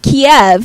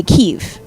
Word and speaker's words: Kyiv: if you don't know kiev is how russians say right the city right ukrainians say kyiv you learned that on